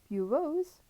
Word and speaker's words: bureaus: Bureaus, to rhyme with rose.